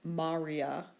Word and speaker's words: maria: i before the a because the second-to-last syllable is short the accent goes on the first syllable Marya as opposed to the english name maria with the accent on the second to last syllable the genitive plural Miriam